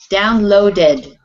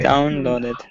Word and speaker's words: downloaded: end of the word, then you will pronounce the ed ending as another syllable.